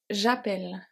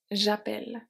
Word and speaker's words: j'appelle: So we have j'appelle j'appelle.